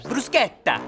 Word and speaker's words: bruschetta: Yeah, bruschetta. Why are you saying it that way? That's how it's supposed to be pronounced.